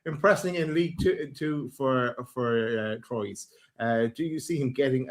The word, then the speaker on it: Troyes: I think it would depend really, because just so that everyone knows, the pronunciation is Troyes.